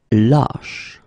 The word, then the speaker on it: lâche: Same thing here, when you get this circumflex, lâche. Okay, so this a is actually lower or deeper than the previous we had, okay?